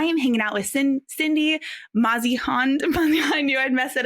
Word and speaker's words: Mausehund: It's Mausehund. Mausehund.